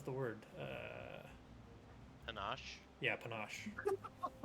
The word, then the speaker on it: panache: word uh Panache yeah Panache it rhymes with ganache yeah that's all right